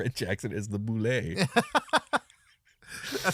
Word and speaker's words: bulette: that at least originally the intended pronunciation was Boule and not bullet yeah awesome I love